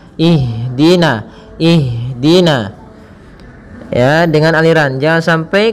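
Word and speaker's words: اهدنا: mengalirnya nafas kita maka jangan sampai huruf Ha ini memantul misalkan ihdin akan tetapi alirkan nafasnya ihdina ihd ihdina ya dengan aliran jangan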